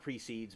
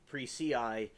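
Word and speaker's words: Perseid: It's not precedes, but that's how I'm pronouncing it.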